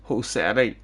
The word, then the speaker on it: Josette: Josette equals Josetti. Yes. That's the proper pronunciation for it.